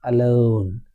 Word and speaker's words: alone: How do you pronounce it's alone or alone? It's alone. The first letter the first letter A is schwa sound.